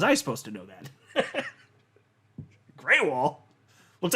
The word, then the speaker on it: Grewal: Or wait, no, it's pronounced Greywall, isn't it? It looks like Gruel, Grewal. I haven't thought about his last name the right way to say it in a long time. It's Greywall. I'm almost certain of that because I didn't know